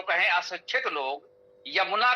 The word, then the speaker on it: यमुना: तो यज्ञ को यज्ञ बोल देना, यमुना को जमुना बोल देना, ये अशिक्षित लोगों का अशुद्ध उच्चारण है।